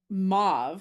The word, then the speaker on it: mauve: I'd only ever heard it pronounced mauv, you know, to rhyme with like suave.